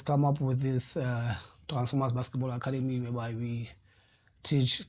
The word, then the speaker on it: Transform-US: yes is is is is called when you pronounce it the process Transformers as in like the movie or the like